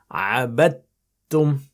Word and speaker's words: عَبَدْتُمْ: Don't pronounce the dal. عَبَدْتُمْ.